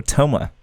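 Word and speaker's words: Thoma: PG all right oh TH or Toma the H is silent you seem tired would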